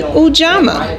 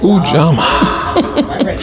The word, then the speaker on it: Ujamaa: And Ujama is spelled Ujamaa. Let me hear you say Ujama. Ujama.